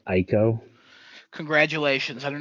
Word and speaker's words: Ico: next project from the guy who created the Eco games. So I know a lot of people are excited for this. I do not play any of the Eco Sir, games. it's pronounced Ico.